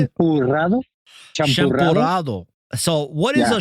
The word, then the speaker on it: champurrado: I can't even pronounce it right. How do you say it? Champurrado? Champurrado? Champurrado.